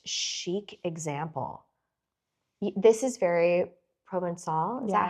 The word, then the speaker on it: Provençal: This is very Provençal. Is that how you would pronounce it?